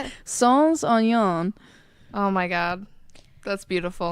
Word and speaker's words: sans oignon: Sans oignon.